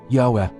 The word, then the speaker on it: Yahweh: This name, along with its pronunciation, Yahweh, can be found in the book of Exodus, chapter 3 verse 14.